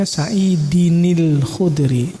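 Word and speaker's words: سعيدٍ الخدري: AB saidiniludri n cara membacanya Saidi Inil khudri walaupun tidak ada di situ tulisan Nun tapi tanwin itu adalah Nun saidin Din akhirnya nun sukun karena bertemu dengan sukun maka nunnya dikasih harakat kasrah saidinil khudri wakana liodiqon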